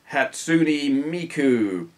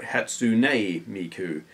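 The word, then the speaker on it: Hatsune Miku: are your opinions on hatsui Miku hey I pronounced it no almost right hatsun Miku if you're not familiar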